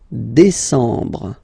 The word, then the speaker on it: décembre: And the last one. Décembre, décembre, décembre. Same thing. EM en décembre.